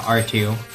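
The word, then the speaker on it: Artoo: Well, it's spelled A R T O O. But yeah, R2.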